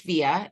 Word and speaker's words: Vija: I haven't met hi my name is is pronounced via it's spelled v-i-j-a so you're probably you may have seen it and wondered how it was pronounced that's how that's how it's pronounced and I am based